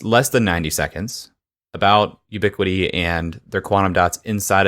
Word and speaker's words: UbiQD: than 90 seconds about ubiquity and their quantum dots inside of a solar panel that if you're interested I would encourage you to Google ubiquity is spelled ubi QD we can also put